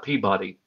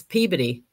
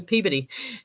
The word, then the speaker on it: Peabody: b o d y Peabody no it's pey when you're yeah I'm telling you when you live down in Mass everybody says peid and it's just a